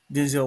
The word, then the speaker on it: Denzel: Technically, it's Denzel. He actually said his name is actually pronounced Denzel.